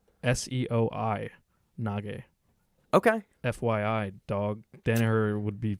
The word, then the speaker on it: seoi: Yeah, it's Seoi. Seoi. Nage. Okay. FYI, dog. Danaher would be fucking scowling at you right now. He would do that anyway. Yeah, he would do that. So anyway, failed drop Seoi Nage by John, and Chris ends up on